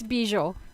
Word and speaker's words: Bizior: It's Bizior. Bizior. Yeah. Bizior. It's Polish.